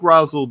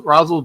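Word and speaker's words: Rasul: I would take Rosel Douglas. Okay. Every time I say his name, I think I'm I'm saying Razison Ghoul, you know, like from you know. Yeah. But yeah, Roz Rosel Douglas.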